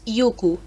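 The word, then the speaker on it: 行く: the verb to go it turns out that IU can also be written and pronounced as yuku in a way yuku is the older form of IU and it seems that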